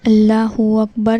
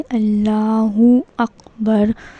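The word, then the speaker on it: الله أكبر: तो यह सही प्रोनाउंसिएशन है। अल्लाहहु अकबर ऐसे बोलना है। साफ सुथरा बोलना है। और इसका सही प्रोनंसिएशन क्या है? अल्लाहहु अकबर।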